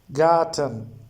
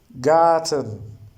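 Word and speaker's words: Garten: Here R is silent. Gun. Gun. Gun. Gun. Gay. Got garden. Gay. Goten like garden. Okay. It is gay. Goten.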